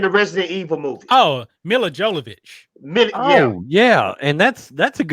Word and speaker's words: Mila Jovovich: White, Dolph Lundgren, Vin Diesel, Jean-Claude Van Damme, Chuck Norris, and Milia Popovich.